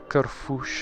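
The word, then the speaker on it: Kerfuś: feel cool and being like, it's Kerfush, not Kerfus, Kerfush.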